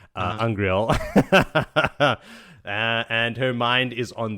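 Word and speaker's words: angreal: And she has her little turtle brooch, is the pronunciation, Angriel.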